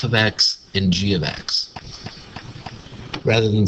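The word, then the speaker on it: g(x): take F ofx and do this or take G of X and do that and again I'm pronouncing it g of X this first parentheses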